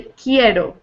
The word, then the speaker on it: quiero: would say Joe no quiero quiero quiero and you can wear Oh what yeah so the you you're not really pronouncing it you should just say quieto kind of like a key yeah exactly yeah and